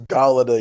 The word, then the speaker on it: Galladay: It's Galladay, Your Honor. Galladay. Galadi. Galada. Gala, just as it's spelled, Gala.